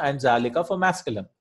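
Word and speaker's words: ذلك: Haza and zalika are pronounced haza and zalika. So you don't write haza as like this and zalika as like this. It's just written as haza, zalika without the alif.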